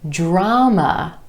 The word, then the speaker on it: drama: Try this one, drama, drama. 2 syllables, emphasis on the ah sound in the first syllable, drama.